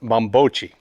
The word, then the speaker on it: Bambocci: here but actually he's right this is actually pronounced mambocci the bombochi furniture style is recorded as early as about